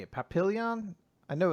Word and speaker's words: Papillon: We never, at any point, Papillon.